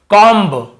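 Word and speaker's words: comb: कॉम्ब बॉम्ब thumb dumb ऐसे पढ़ते हैं ना? ब का उच्चारण करते। लेकिन देखिए एम के बाद यदि बी है तो हमें बी को नहीं पढ़ना है। केवल कॉम।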